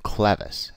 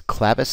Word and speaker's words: clevis: The two main methods of pivot mounting include clevis mounts and trunion mounts. Notice I'm pronouncing the term clevis and not clevis.